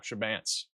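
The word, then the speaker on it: Chebanse: Pronunciation. Shabance. There we go. Shabance.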